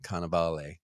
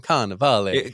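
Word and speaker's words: Cannavale: say yeah Bobby kaval I have to say it like that every time K ofal that's the thing you look at you might be confused on how to say it but you just say it in an Italian way and then says itself I love Bobby canaval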